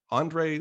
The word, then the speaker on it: Andrei: review the work of andrei did i pronounce that right i forgot to ask you the beginning how to pronounce your name andre yeah perfect that's correct thank you andre is a